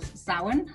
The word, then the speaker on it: Samhain: And it comes from the Celtic festival Samhain, as it's pronounced.